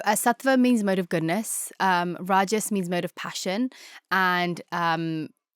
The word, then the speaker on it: Rajas: Sattva, is it Rajas? Is that how I pronounce it?